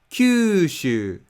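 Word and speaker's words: 九州: Japanese fish accent and when the stress is placed at the first Mora of a word then pitch just Falls Kyushu cue shoe when the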